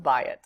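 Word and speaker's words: בַּיִת: We have certain words we've learned so far, like bayit has what's called a diphthong, an AYI diphthong. So you have a ptak, yod, hirik, and it's pronounced bayit.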